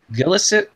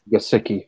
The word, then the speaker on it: Gesicki: Gillisick? Hi. Gesicki.